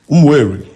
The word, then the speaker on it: Umueri: Okay, so the right pronunciation of Umueri is Umueri.